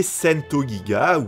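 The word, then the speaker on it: St.GIGA: créée une filiale baptisée sento giga oui oui je prononce à la japonaise parce que paradoxalement c'est moins galère celle-ci fut placée sous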